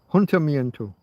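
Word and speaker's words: ayuntamiento: It's not Torah. I got the beginning wrong. Hunter Mento. Hunter Mento.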